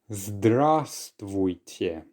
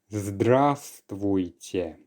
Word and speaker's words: Здравствуйте: Здравствуйте. Здравствуйте. Quite a long one indeed, so let's break it down by syllable. The first one actually contains the silent letter V, so we actually pronounce it as zdrast.